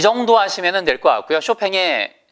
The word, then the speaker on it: Chopin: 정도 하시면 될것 같구요 쇼팽의 chopin 이에요 그렇죠 핀 일하고 있지 않습니다 원래 발음대로 살려서 쇼팽 쇼팽의 이렇게 읽어요 아 지게차 그래서 쇼팽이